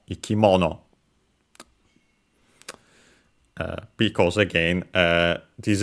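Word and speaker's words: 生き物: All of the following noun, which in our case is ikimono, a compound uh of strictly Japanese origin between uh accented by the way on the mo ikimono.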